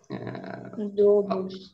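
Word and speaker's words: どうぶつ: То есть вот это ю, она удлиняет вот эту о, до. Так она произносится до, а когда мы с у произносим, это до.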